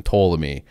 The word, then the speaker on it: Ptolemy: this guy named ptolemy it starts with the letter it's it's written out with a p like the first it's like a silent p but then ptolemy and there's ptolemy one